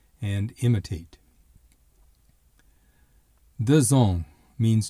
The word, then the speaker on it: deux ans: Notice that the X has a Z sound because the next word begins with a vowel. Consequently, deux ans.